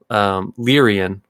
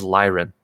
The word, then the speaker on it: Lyran: And then in the early days, I always said Lyrian, and now it's like I look and I'm like, oh, I was wrong. It is Lyran.